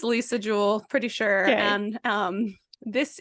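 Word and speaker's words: Lisa Jewell: want to call her Liza Jewel her name is Lisa Jewel it's spelled like Lisa so I think it's probably pronounced Lisa but in my head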